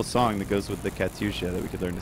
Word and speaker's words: Katyusha: Katyusha. Katyusha. The howl of the Katyusha. Yoink, we should learn to sing the song. There's a beautiful song that goes with the Katyusha that we could learn to sing.